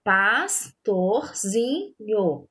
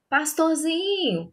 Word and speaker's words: pastorzinho: Pastorzinho, pastorzinho, pastorzinho. A sílaba que ficou prolongada na hora que a gente falou a palavra foi o zin, certo? Que saiu com mais intensidade também.